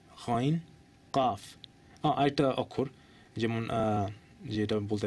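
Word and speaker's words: قاف: আরেকটা একটা অক্ষর হচ্ছে কফ অনেকে হয় কফ কফ না কফ কফ এইটা হচ্ছে কাফ হালকাভাবে কাফ এটা কফ কফ কাফ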